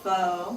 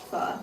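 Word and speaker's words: phở: I love fo, but it's pronounced fu.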